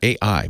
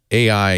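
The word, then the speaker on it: AEye: Yeah, AI, but it's not spelled AI. It's spelled A-E-Y-E, like eyeball. AI.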